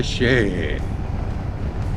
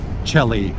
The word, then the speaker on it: Chelly: miles to Canyon de Chelly. It looks like Chelly, but I've heard it pronounced de Chelly. Maybe I should pronounce it Canyon de Chelly. Oh, piss off every French Canadian or Frenchman around.